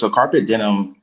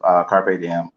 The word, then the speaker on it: carpe diem: So carpet denim is a mispronunciation of carpe diem, and so seize the day.